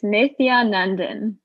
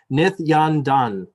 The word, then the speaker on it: Nithyanandan: Nithyandandan. No? One extra syllable, two extra syllables? I'm so sorry. It's if you just sound it out like with the letters, it's just Nithyanandan.